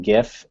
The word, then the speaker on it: GIF: would be that it's a hard g on gif and not a soft j i'm joking i'm joking